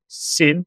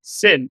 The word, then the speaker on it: Xin: And I was told it's actually not Xin, but Xin, because yeah, you have